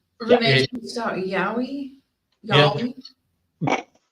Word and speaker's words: Yowie: Yowie? I know I'm saying that wrong. You were saying it correctly, but we're also 12.